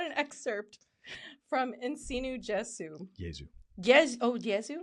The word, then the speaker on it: Jesu: excerpt from In Sinu Jesu. Jesu. Yes. Oh, Jesu? It's a soft J, yeah. Oh, it's a soft J? Like yogging. What the heck? No, like in Latin, the letter J is pronounced.